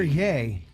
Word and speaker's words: Ye: it is it here yay well then it should be y-a-y Kanye West his nicknames yeah what's up yay well it's not pronounced the way he's gonna spell it everybody's gonna mispronounce it